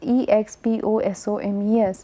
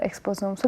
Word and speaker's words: exposome: If you look at it, is spelled as EXPOSOMES, and it is pretty much similar sounding as other omic words such as metagenomes, so metagenomics, or proteomics, metabolomics. So, omics is whenever we